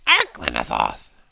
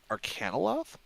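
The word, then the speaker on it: Arcanaloth: He would say, He's an Arclinathoth. and I'll, because I know that I pronounced that wrong. Give me a second. Arcanoloth?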